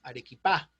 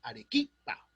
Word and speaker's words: Arequipa: dice pachacamac están mal acuérdense que los vocablos quechuas no admiten las las voces agudas entonces no es pachacamac no es busco no es arequipa es arequipa cusco pachacamac que es ese